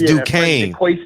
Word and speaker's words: Duquesne: It's Duquesne.